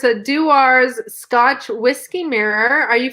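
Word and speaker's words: Dewar's: And by the way, it's pronounced Dewars. Okay. Dewars.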